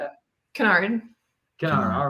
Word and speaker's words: Kennard: We're here with Kennard, or Kennard, how do you say it? Kennard.